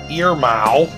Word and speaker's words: Irmao: Mike over it, and this is how he said he pronounced it, Irmao. Custom Models, Irmao Custom Models.